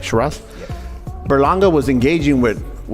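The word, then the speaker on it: Sheeraz: Shiraz?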